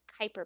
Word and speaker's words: Kuiper: why it's spelled like cooper belt but it's pronounced kuiper belt because it's not english that's all i